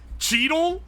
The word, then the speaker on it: Cheadle: saying pronounce it like he's a daily is a really funny way to phrase that. I'm not gonna lie. Some of you guys are funny. His name's Cheadle? That's actually how it's said.